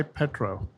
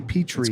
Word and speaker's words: petri: summer so what why petro it's petra p it's actually petri creek it's spelled p-t-p-e-t-r-i relating to rocks nothing to do with